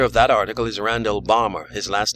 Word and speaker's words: Balmer: The writer of that article is Randall Balmer. His last name is spelled B-A-L-M-E-R.